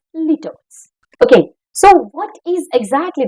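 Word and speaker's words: litotes: o t e s Litt somebody can pronounce as lude as well in general which is familiar to us Leos okay so what is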